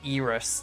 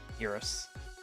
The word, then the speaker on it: Eris: Dang, Mosh, it's pronounced Eris, not Eris.